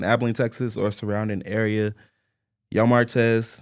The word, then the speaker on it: Yo! Martez: Texas or surrounding area yo Martz that's how you pronounce it is the clothing store